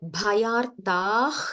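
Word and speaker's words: bhayārtaḥ: Bhayartah Sharanam. Bhayartah. There is a Visarga there, right? Bhayartha sharanam gata. But don't pause between Bhayartha and Sharanam. So it is Bhayartah Sharanam Gata.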